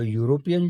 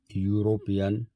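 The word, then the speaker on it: European: यू, या sound जो है वो व्यंजन है, इसलिए यहाँ पर एन का यूज मत करिए, यहाँ पर आएगा आ। टॉम इज आ यूरोपियन tourist.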